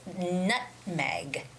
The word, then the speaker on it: nutmeg: cinnamon cinnamon the stress goes on the first syllable which is cinnamon cinnamon and the last word there is nutmeg nutmeg okay so it's not not to me